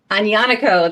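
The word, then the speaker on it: Aglianico: Agnanico, that's it.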